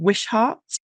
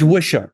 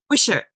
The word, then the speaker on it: Wishart: And I think I was listening to an account of someone called Wishart. Was he quite a significant? George Wishart, yeah. Wishart. Okay, sorry, my pronunciation.